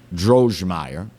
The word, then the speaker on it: Droegemeier: I don't butcher his name too badly, Kelvin Drogemeyer, Droegemeier, according to Marty, that's the correct pronunciation, PhD and former director of the White